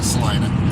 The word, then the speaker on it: Salina: pronounced Selena also but they pronounce it over here in Kansas Selena yeah say you tells